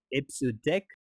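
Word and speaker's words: EBCDIC: or eight the last one ABC di I pronounced as a so deck that is extended binary coded decimal interchange code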